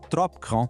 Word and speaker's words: trop grand: Na expressão trop grand, que significa grande demais, tanto o P de trop quanto o D de grand são silenciosos. Então a gente não fala trop grandi, e sim trop grand.